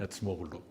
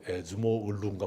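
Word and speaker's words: Acemoğlu: 그 중에 한 분이 네런 에츠모글루, 요즘은 그 발음이 좀 달라져가지고 에즈모 을루인가 뭐 이렇게 돼요.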